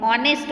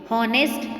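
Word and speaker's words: honest: भले ही ये स्पेलिंग में H दिया गया है बट H साइलेंट है. हम H का प्रोनाउंसिएशन नहीं करते हैं, हम ऑनेस्ट बोलते हैं, हॉनेस्ट नहीं बोलते.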